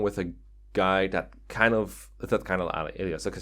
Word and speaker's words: Guy: You basically can't go wrong with a guy that kind of alias.